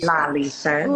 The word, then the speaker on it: Lalesha: rest of the night sorry Lisha not Lisha it's Lisha laisha I love it Lisha